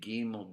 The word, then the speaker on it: gimel: It's going to be ga, Gimel.